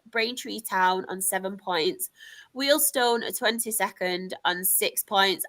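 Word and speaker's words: Wealdstone: I'm saying Wheel Stone as well because I can't remember who it was said about me saying Wheel because I pronounce it Wston. So I'm making sure I pronounce Wheelston.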